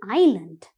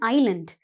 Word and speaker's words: island: Sri Lanka is an island Sri Lanka Island Sri Lanka is an island right and also children again I'm telling you uh this s is silent right so be mindful of it always is i s l